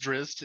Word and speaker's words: Drizzt: Also, it's pronounced Drizzt, just saying, but okay. Yeah. Continue. I'm going to pronounce it the way most people are going to understand it. Doricious?